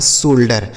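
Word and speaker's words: shoulder: यस एच ओ यू एल डी ई आर, तो यस एच से हो गया बड़ा श, इस ओ यू का उच्चारण ओ की मात्रा, एल से आधा ला और डी ई से ड, आर से र, लिखा है शोल्डर।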